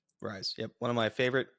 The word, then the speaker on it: Ryze: That's how you pronounce it, right? Ryze.